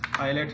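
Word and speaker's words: islet: इस तरीके से तमाम सारे हैं, ये आयल है, आइलेट है, तो इनमें एस का उच्चारण हम लोग नहीं करते हैं।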